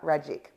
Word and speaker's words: Ragic: And of course, Georgia Ragic. Remember, it rhymes with magic.